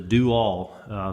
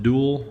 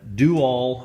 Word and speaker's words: Do-All: And again, the loader is a Do-All. Some folks want to pronounce it dual, but it's kind of funny how they spell it and pronounce it.